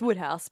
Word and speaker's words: Wodehouse: Is that Wodehouse or Woodhouse? It's Woodhouse, but It yeah, it's is spelled Woodhouse, Woodhouse.